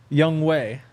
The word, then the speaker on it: Younghoe: Oh, how'd you say it? Younghoe. Oh. That's how you actually say it. Oh. Young But they Wake. just write it the other way. Phonetically, it's different.